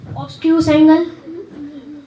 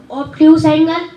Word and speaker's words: obtuse: Obtuse angle. Your pronunciation is not correct. Obtuse angle.